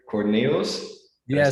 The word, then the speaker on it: Cornilles: So yes, Cornilles is the correct pronunciation.